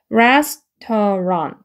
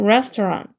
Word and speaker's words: restaurant: 내밀고 the 라고 하시면 되고 그 다음에 얘는 restaurant 해가지고 우 소리가 들어가면서 루라서 레 얘는 에 발음이거든요. restaurant 해가지고 레 인갈새 란이 일강새 해가지고 restaurant 이렇게 됩니다.